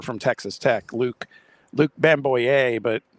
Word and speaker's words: Bamgboye: Texas Tech, Luke Luke Bamgboye, but his name is spelled B M G B O Y E and there's no place for that G anywhere. You just got to Yeah,